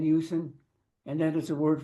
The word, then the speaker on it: Usen: We call our Creator Yusen. It's spelled U-S-E-N, Yusen, and that is a word for God, the Creator Source, whatever you want to call Him.